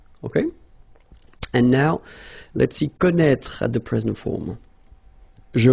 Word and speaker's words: connaît: Well, you pronounce these three forms the same way, okay, connaît, connaît, and then connaît, alright, let's see how it